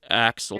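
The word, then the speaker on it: Axl: I I mispronounced his his name. It's It's actually Axel.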